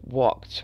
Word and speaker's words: walked: like a tea and walked which also sounds like a tea looked looked it's another